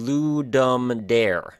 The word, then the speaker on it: Ludum Dare: a dance show uh I've seen it pronounced ludum d LM d ludum d LM Dar Le d ludum d and ludum d now those last two are the ones that I would probably say but I don't speak